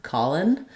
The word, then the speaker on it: calling: Um, if they've written it this way in the subtitles, then it's probably being pronounced with an N. Colin.